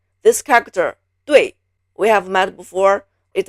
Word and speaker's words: 对: You just say it as 对, not 对. You know, it's if you say it like 对, people know you speak English as mother tongue. It is 对, fast and crisp, 对.